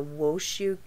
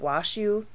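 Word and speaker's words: Washoe: sparks nevada was arrested and booked at the wooshu i think that's how you say it washu county jail on charges of murder first degree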